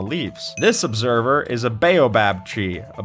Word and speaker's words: baobab: This Observer is a baobab tree. A baobab? Baobab? How do you pronounce it?